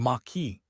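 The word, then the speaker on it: Maquis: The Machi French pronunciation m a stress ki were rural gerilla bands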